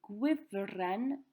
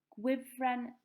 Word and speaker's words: gwifren: Gwifren zip. You can repeat that one after me. Gwifren zip. Zip wire. One F this time, making the V sound, and then an S instead of the Z.